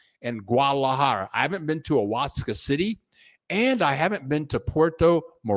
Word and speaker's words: Oaxaca: Thank you, you guys, for helping me out with my pronunciations here. Oaxaca. Thank you very much. Thank you, Reggie. Thank you very much, Reggie. Oaxaca.